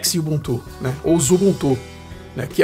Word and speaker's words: Xubuntu: que Ele sempre reclama do nome da distribuição shubuntu que na verdade é esse x a gente pronúncia ele é xubuntu né ou Zulu que